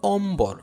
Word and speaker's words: অম্বর: 5 নম্বর নিয়মে দেখো ম এর সাথে যদি বফলা সংযুক্ত থাকে তবে ব ফলার উচ্চারণ অবিকৃত থাকে। হ্যাঁ, যেমন দেখো অম্বর, অম্বর, সম্বল, সম্বল, এখানে কোনো পরিবর্তন হচ্ছে না।